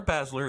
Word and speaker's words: Basler: Or Basler, if you're me. Either or. He would not correct you, but that is the way he pronounces it.